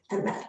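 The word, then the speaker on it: אמת: make up this word, emet, an aleph, a mem, and a tav. And aleph is silent, but it has an a sound, emet, and that's a mem, and that's a tav, emet.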